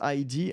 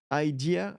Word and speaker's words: ID: I just wanted to point out that ID should be pronounced ID and not idea and not ID, like the French ID.